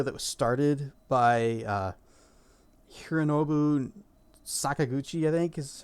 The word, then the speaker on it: Sakaguchi: It was made by Mistwalker, the studio that was started by Hironobu Sakaguchi, I think is how you say his name.